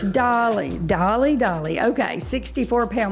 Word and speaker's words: Dali: It's like the artist Salvador Dolly. Okay, there you go. It's Dolly.